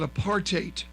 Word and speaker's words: apartheid: hundred thousand dollars so remember that apartheid rhymes with hate okay so they didn't